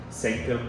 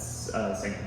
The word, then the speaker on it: Psanctum: And the name of that open mic is the Sanctum Psychedelia Open Mic, which is PSANCTUM. Sanctum is spelled with a P.